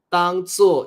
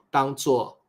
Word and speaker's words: 当作: 师也会，我们母语者常常会念成当成、当做。不过 correct pronunciation is 当做、当成。But if you hear